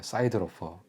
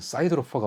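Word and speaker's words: siderophore: 용어로 이런 표현이 있어요 미국식으로 발음하면 사이드로 이렇게 발음하는 거고 영국식으로 하면 데로 4 이렇게 발음을 하는 이제 이런게 있대요 제가 뭐 미국 사람이 대화를 해 본 건 아니지만 어 미국식이 조금 더 멋있어 보이니까 미국 식로 발음해 볼게요 사이드 로퍼 제가 사이드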